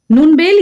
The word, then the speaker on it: नूनबेल: ठीक है, नेक्स्ट है नूनबेल, या इसको हम नूनबिल भी प्रोनाउंस करते हैं। यही मैं जो कह रही थी, ये लोकल प्रोनाउंसिएशन का सारा खेल है, तो आप जैसे भी उसको चाहें वैसे याद कर सकते हैं।